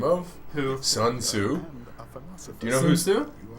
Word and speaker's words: Sun Tzu: Sun Tzu.